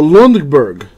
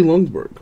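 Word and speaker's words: Ljungberg: I guess that's annatto oh the J is silent so Lundberg so long de Burgh Freddy Lundberg there we go another legend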